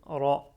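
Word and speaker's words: رَ: Avec les accents, Ra avec Fatha, donc le son qu'on entend pour la lettre Ra, c'est R. On ajoute le E, ça donne Ra.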